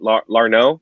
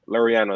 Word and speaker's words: Laureano: Larno? Is it Larno? Laureano. There you go.